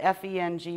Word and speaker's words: Feng: The two words that it comes from, it's spelled F-E-N-G, but it's pronounced Feng, and it's wind, and Shui is water, which are two of the 5 main elements.